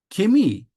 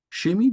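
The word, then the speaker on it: Chemie: diye bahsediyorlar fizik fizik kemi Şemi diyenler da var arkadaşlar Şemi kemi daha çok okunuyor kimya biologi biyoloji İnformatik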